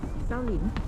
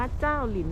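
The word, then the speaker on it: 兆麟: เป็น น้ำ แข็ง ไป บรรยากาศ ใน ส่วน สาธารณะ เศร้าหลิน พิการ ไป แล้ว เด็ก ๆ บอก ว่า น่า จะ ออก เสียง ว่า เจ้า หลิน มาก กว่า จาก สวน เจ้า หลิน นะ เมื่อ กี้ มา นิด นึง 400 มต.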